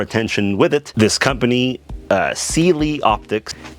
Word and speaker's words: Cyelee: This company, Cyelee Optics, S-E-E-L-E-E for pronunciation, because I see a lot of people call it Cyelee Optics.